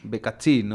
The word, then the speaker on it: Beccassino: Y ese Becasino se escribe con doble C y doble S. Exactamente. Becazzino, además porque es italiano.